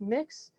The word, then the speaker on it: Mx: you're filling out paperwork the most commonly used gender neutral honorific is mx and it's pronounced mix i have not seen